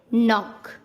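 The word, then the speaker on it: knock: के कब साइलेंट होता है? जब एन से पहले के आता है तब के का उच्चारण नहीं किया जाता।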